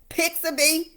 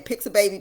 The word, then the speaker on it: Pixabay: Okay, Pixabay, or some people be saying Pixababy, but that's not how you pronounce it.